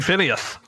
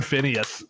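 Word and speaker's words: Phinehas: That H is very important there.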